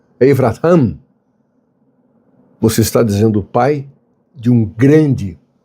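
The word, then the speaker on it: אברהם: Quando você pronuncia em hebraico Avraham, você está dizendo pai de um grande povo.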